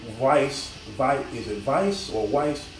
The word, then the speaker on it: Weisz: My girl Rachel Weisz, is it Weisz or Weisz? I think it's pronounced like a V, but it's a W, but Weisz. Anyway, Rachel, love her.